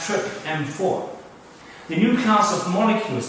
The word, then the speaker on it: TRPM4: complex with another protein which has the name trpm4 which is pronounced trip m4 the new class of